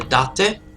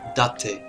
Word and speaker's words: Date: name says it, Masamune Date. So then we have the Takeda. Oh, and for the English speaking, no, it's not date or date, it's Date. Yeah, Japanese pronounce things very different than the English.